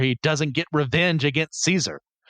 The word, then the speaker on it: Caesar: doesn't get revenge against Caesar or kaisar which is actual correct Latin pronunciation but I'm going to